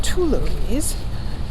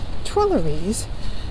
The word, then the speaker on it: Tuileries: are entering the twillies most of us want to pronounce it Tes but it is twer because TW was is